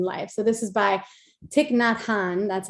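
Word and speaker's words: Thích Nhất Hạnh: that happens in life so this is by tiknot han that's how you pronounce his name and it's called the art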